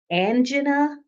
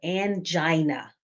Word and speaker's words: angina: either mentally or physically angen or angina whichever way you pronounce it is correct angina is a type